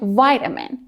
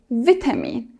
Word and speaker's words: vitamin: For example, Americans say vitamin with a long I, but the British say vitamin with a short I, vitamin.